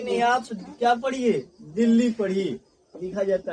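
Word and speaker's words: Delhi: में, क्या बताए थे कि देलही लिखा जाता है, लिखाता है कि नहीं, ऐसे ही तो लिखाता है इंग्लिश, लिखाता है कि नहीं, देलही। इसको हिंदी में लिखिएगा दे लही, ऐसे ही लिखाएगा। लेकिन इसको कहेंगे क्या चीज पढ़ने के लिए, दिल्ली। अब बताइए कि हमने दिल्ली तो इसमें उच्चारण कर दिए, बोल रहे हैं कि नहीं दिल्ली है लिखा हुआ है, दिल्ली ही पढ़िए।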